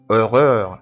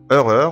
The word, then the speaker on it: horreur: horreur الأو يو آر heure. a heure قلنا قبل كده برضو إن حرف الأش إيه لا ينطق.